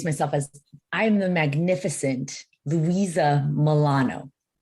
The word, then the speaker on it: Luisa Molano: mention and we have the Magnificent guest today Louisa Milano Louisa hello hello hello I love how you